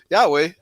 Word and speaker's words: Yahweh: And it translates to Yahweh. That's the way it's pronounced by in Hebrew actually.